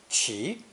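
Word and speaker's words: 其: sitting on a stand pronounced second tone chi chi perhaps because of its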